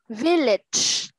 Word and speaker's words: village: Village. Ví nè, village. Âm cuối này, cái này chúng ta đọc là ch.